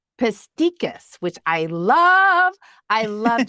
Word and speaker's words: Pestikas: give me the actual pronunciation of your last name. It's Pestikas. Pestikas, which I love.